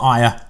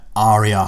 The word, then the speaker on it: Arya: Yes, that's how you say it. It's not Arya, Arya Stark.